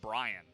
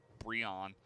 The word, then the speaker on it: Brion: I keep trying to call him Brian, which is just not. It's not a combination. It's just a mispronunciation of Brion, which is kind of the opposite, I suppose.